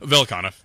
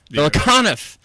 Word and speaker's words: Velikanov: How do you say it? Velikanov. Velikanov. It is a mouthful.